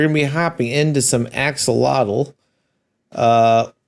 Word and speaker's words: AK-xolotl: be hopping into some axolotl uh I think you pronounced that right it's not ak's a lotto I think Axolotl would